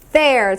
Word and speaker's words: fair: 자 공정하는 영어로 fair fair 제가 어떻게 발음하고 있어요 fair 위 치아가 아랫 입수를 물고 있어요 fair fair 따라해 보세요